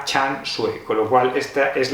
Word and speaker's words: Can Xue: llegado a casa dos libros de chanu decía can su que es como se leería en español pero vi un vídeo en internet de la traductora de Belén cuadra y ella lo pronuncia Chan sue con lo cual Esta es la pronunciación normativa